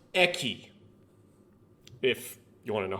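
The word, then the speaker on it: 駅: corner messing around this is station and it's pronounced eki if you want to know how it's pronounced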